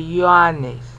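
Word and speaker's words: Ἰωάννης: Like this should be E-O-A-N-E-S, if you were classical Greek. Okay? But the Apostle John, even no matter how you were raised, you say Ioannes, because this in Hebrew is a yo sound.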